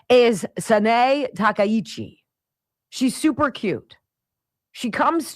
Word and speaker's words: Sanae Takaichi: had to actually go and get a phonetic pronunciation. Her name is Sanae Takaichi.